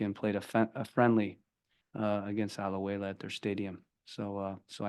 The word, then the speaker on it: Alajuela: We'll focus on the Costa Rican team, Alajuela. That's how you pronounce it, Alajuela?